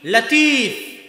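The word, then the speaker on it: لطيف: নামে নাম আছে মানে লতিফ আল্লাহর নাম কিন্তু সঠিক উচ্চারণ হচ্ছে লাতিফ সঠিক উচ্চারণ কি লাতিফ লতিফ এটা সঠিক উচ্চারণ নয় লাতিফ হচ্ছে সঠিক উচ্চারণ তো এই লাতিফ শব্দের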